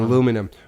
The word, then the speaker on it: aluminum: in like thin our minimus aluminum for an aluminum which is the correct way of pronouncing it yes the person who discovered it named it aluminium aluminium is wrong sorry English people we changed it sorry well